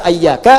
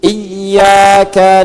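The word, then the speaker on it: إياك: Jangan dibaca ayyaka, jangan dibaca hayyaka dalam salat ya kan. Dan jangan dibaca iyaka. Dibacanya apa? Iyaka. Ayo baca iyaka. Ikuti. Iyyaka na'budu wa iyyaka nasta'.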